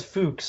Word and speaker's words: Fuchs: I mean, I used to thought it was Titus Fox this whole time. It's not Apparently it's Fuchs or Fuchs.